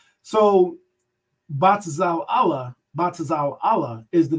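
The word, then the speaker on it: בצלאל: All right, that's how his name is pronounced. Batazal Allah.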